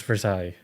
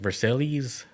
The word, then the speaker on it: Versailles: Bob says it's pronounced vers. Damn. My bad. Versail or Versailles? It's Versailles.